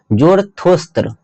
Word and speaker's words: जरथुस्त्र: तो पारसियों का जो धर्म है उसका नाम है जुरथुस्त्र।